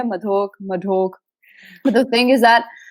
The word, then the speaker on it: Madhok: So my last name is Madhok. Okay, and you're supposed to say it like Madhok. Depends where you are in India. Madhok.